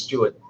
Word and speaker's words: Stewart: easier in the Philippines because in in Australia say my name's Stuart but in the Philippines depending where you're from you pronounce it differently it can be seaward yeah what do you